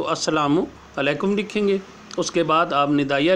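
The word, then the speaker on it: السلام علیکم: बात लाजिम लिखें कि अलिफ़ के बाद लाम है, लाम साइलेंट है। ये अरबी से चूँकि आया है तो अरबी वर्ड ही है, तो जहाँ पे शद आ जाती है उसका जो पहला वर्ड होता है वो साइलेंट हो जाता है, तो इसलिए लाम लिखा लाजमी जाएगा, पढ़ा नहीं जाएगा।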